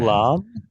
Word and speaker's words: lamb: So the B is silent on the end there.